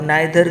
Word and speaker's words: neither: आइदर को इधर भी कहा जाता है और नाइदर को निधर भी कहा जाता है। दोनों प्रोनाउंसिएशन बिल्कुल सही है।